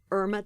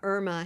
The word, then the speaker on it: Irma: So there's a famous singer named Irma Thomas. I would never call her Irma Thomas. That's not her name. She's Irma Thomas, but I'm Irma. When Hurricane Irma happened a couple of